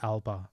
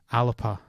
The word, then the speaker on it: Alba: because the word Alba is also that spelling is a Gaelic word to refer to Scotland, but it's not pronounced Alba. It's pronounced Alapa.